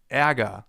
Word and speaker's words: Ärger: It's pronounced like this. Ä, as in Ärger, the German term for anger. And anger actually contains a sound that comes pretty close.